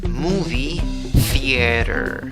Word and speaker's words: movie theater: ¿Cómo pronuncias la frase? Movie theater.